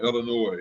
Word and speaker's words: Illinois: As the people who are not from here pronounce it. here. Right. They say the S on Illinois.